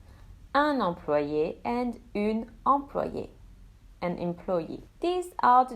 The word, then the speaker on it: employée: The extra E is silent. So both masculine and feminine will have the same pronunciation. Un employé and une employée, an employee.